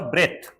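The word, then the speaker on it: breath: इसका उच्चारण होगा ब्रेथ, ब्रेथ यानी सांस।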